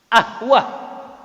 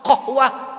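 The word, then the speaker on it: قهوة: Masa qaf dibacanya alif, Pak? Ahwah. Jauh nggak qaf dari qaf jadi ke alif? Kalau qaf ke goin masih mendekati makhraj. Qahwah, gohwah.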